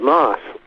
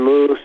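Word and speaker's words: Maus: and that was John Walker how do I pronounce his real name mouse was it right I'm glad you brought it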